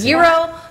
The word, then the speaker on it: gyro: gyro ball gyro ball I say gyro does that how they say yeah yeah it's zero but I'd say gyro just for the sake of pronunciation so we have steamed